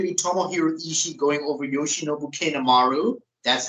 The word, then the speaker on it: Yoshinobu Kanemaru: It's definitely going to be Tomohiro Ishii going over Yoshinobu Kanemaru. That's how you pronounce his name, Vaz.